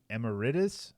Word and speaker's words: emeritus: So, quote, "It's a remarkably consistent record," said Holiday, who is now a professor emeritus.